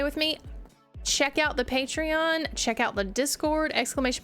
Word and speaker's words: Patreon: Yes, this is a Patreon um or patron, however you want to say it. It's it's spelled Patreon, but most people just say patron, but it is a Patreon SMP.